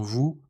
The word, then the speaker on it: vous: Ou se prononce comme le son anglais O, comme dans vous, nous, amour.